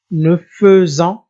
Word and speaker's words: nous faisons: Attention, je prononce E, nous faisons, bien sûr avec l'apparition de S.